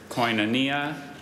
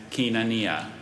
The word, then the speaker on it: Koinonia: language of origin Greek are there any alternate pronunciations there's Koinonia and Kenan Nia may have the port